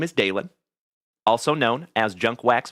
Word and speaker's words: Dalen: But if you are new here tonight, my friends, keep in mind that my name is Dalen. D A L E N, like Dale plus N.